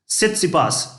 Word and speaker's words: सित्सिपास: French open finalist स्टेफेनोस सित्सिपास, ठीक है, ये टी साइलेंट है ध्यान रखना, ठीक है, तो सित्सिपास, तो और फ्रेंच के